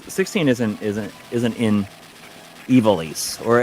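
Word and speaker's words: Ivalice: isn't in ivelisse or as I always said until I heard him pronounce it I always said ivalis and I think ivalis sounds better really I I don't like that about I've always said iballist until I heard like the actual pronunciation yeah beer were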